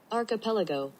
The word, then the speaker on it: archipelago: just say it all right here we go archipelago archipelago archipelago archipelago they spelled it a-a-r dot